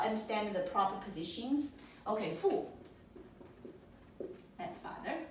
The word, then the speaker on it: 父: Now these 3 principles actually concerns about 父. That's the 4th tone.